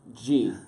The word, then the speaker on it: Ghee: Harrison G.